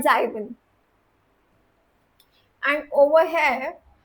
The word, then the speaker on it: sieben: That's why you say it's fear, it's sieben, not sieben.